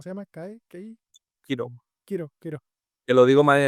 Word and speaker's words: Kiro: Kiro. Que lo digo mal en el vídeo porque no sé cómo se pronunciaba, pero ya busqué y se pronuncia como hero, como héroe, Ah, pues vale.